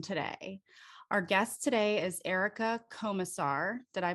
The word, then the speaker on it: Erica Komisar: like this one today our guest today is erica comassar did i pronounce that correctly you did okay she is